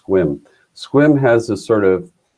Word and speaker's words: Sequim: There's a little town called Sequim, pronounced Sequim. It's spelled Sequim or Sequim, it looks like, but it's pronounced Sequim.